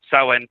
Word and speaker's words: Samhain: But it's pronounced Samhain. Sorry, I'm doing a Christmas show and I juxtapose my holidays in my skull, but you're absolutely right. We're talking about Samhain.